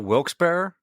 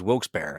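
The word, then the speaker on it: Wilkes-Barre: remember how to pronounce I pronounce it Wilsar. Wilsberry. But but from people who live there, they pronounce it from some people that I know, they pronounce it Wilksberry. But I but but like I've learned it as Wils Bear as someone who's not from there though.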